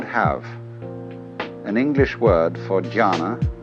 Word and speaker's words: jhana: which in turn is the Chinese way of pronouncing the Sanskrit word jhana. And jhana is a very difficult word to translate into English, if not impossible.